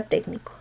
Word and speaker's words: técnico: ¿Por qué se tilda técnico? Última sílaba co, penúltima ni, antepenúltima tec, palabra esdrújula.